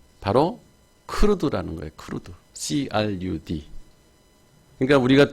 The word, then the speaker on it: CRUD: 그래서 그냥 부를 때 크루드 이렇게 발음을 하는 거예요.